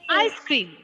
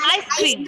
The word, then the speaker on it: ice cream: ice cream. Toothpaste. Ice cream. Ice cream. Ice cream. Okay, the stress is given to the first syllable of this compound word.